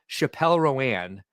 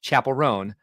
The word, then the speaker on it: Chappell Roan: That the first time I heard her name, Matt Husband said Chappelle Roan, and I can't get that pronunciation out of my head. Chappell Roan. Makes more sense.